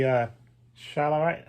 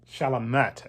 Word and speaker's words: Chalamet: Timothy Chalamet. I think I pronounced his name right. I know he's French. Chalamet.